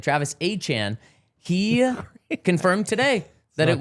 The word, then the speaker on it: Etienne: Travis Achan, I should now say. He has not changed the pronunciation of his name, but he has corrected